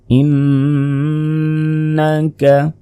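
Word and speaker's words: إِنَّكَ: পড়তে পারেন এরপর দেখুন ইন্নাকা ইন্নাকা এখানে গুণ হবে কারণ নুনের উপর তাজদিদ ইন্নাকা লাল মুরসালিন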